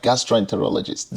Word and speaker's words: gastroenterologist: Even the word is so difficult to pronounce. Not many people will be able to get it right. Gastroenterologist.